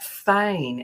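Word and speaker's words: feign: taking her um idea on she talks about Fain as in Fe i g n so what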